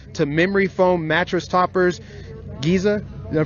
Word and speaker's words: Giza: Giza, did I pronounce that right? Yeah, Giza Dream.